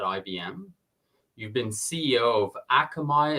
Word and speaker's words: Akamai: you've been CEO of akami is that how to how it's pronounced it is Akamai yeah and I didn't